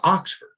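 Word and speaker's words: Oxxford: looked, and he said it was Oxford. Mm-hmm. And I, of course, associated that with the school in England, mm-hmm. but he said it's spelled with 2 X's.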